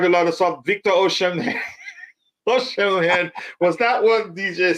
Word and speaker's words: Osimhen: It's Osimhen. Osimhen. You can call him Osimhen. You can pronounce it as Osimhen, but Osimhen. It ends with an M.